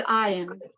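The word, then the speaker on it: עין: it's not ayin because the metek is under the iron, which is very funny. Under the letter iron, it has a metek, so that first syllable is the one that's emphasized, not the second syllable.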